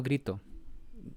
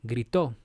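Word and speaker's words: gritó: the last syllable so you have to accentuate the last syllable El Nino grito I have some students they will say El Nino grito that's not the proper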